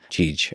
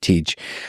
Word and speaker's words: Tej: Tej. Okay, Tej. It's TJ would be his name, but we call him Tej.